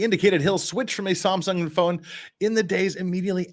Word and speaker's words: Samsung: sorry a Samsung device if you're if you're not from Korea Sam Samsung is the is the proper pronunciation switch from a Samsung